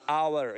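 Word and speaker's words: hour: उसी तरह आवर, ये एच है लेकिन हम हावर नहीं पढ़ेंगे, आवर पढ़ेंगे, एच साइलेंट है यहाँ पर, सॉफ्ट एच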